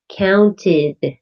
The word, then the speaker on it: counted: The ed sounds like id counted.